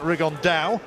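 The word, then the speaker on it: Rigondeaux: and he's as he's correctly pronounced with the uh spanish accent rig on dao and look two absolute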